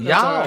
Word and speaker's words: ja: so it's spelled ja a but it is pronounced yah okay very good yeah all right we're going